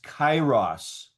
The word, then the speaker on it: kairos: Okay, so but the other word for times, translated time, is kairos. 시간이라고 번역되는 또 다른 헬라어 단어는 카이로스입니다. Kairos is spelled Kairos.